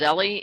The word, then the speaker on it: Zelle: So someone suggested that, I think it's pronounced Zelly, is maybe another option to PayPal, and that they have less fees.